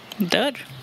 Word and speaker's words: dörr: Dörr.